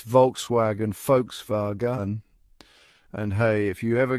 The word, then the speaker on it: Volkswagen: The correct pronunciation is Volkswagen. That's right, it's all about those guttural German sounds. Folks, like you're talking about a group of people, rhyming with spa and gun like the weapon.